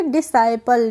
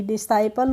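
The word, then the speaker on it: disciple: आई पी एल ई डिसाइल होता है तो यहां पे भी हम डिसाइल पढ़ रहे हैं तो यहां पर हम एस का प्रोनाउंस कर रहे हैं और सी का नहीं कर रहे हैं तो हो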